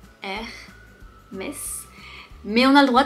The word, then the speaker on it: Hermès: Première marque, Hermès. Hermès. On ne prononce pas le H, Hermès. Mais on a le droit de prononcer le S pour une fois, Hermès.